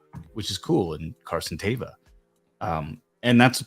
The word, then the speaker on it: Teva: one I'm going with there have been different iterations of it Carson tiva Teva uh but uh Teva is how John pronounced it so I went with that okay yeah Kev can't